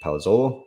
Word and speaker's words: Palazzolo: um i'm signing off david whalen with palazzolo am i pronouncing that correct yeah you got it that's